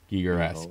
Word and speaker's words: Giger-esque: Giger-esque.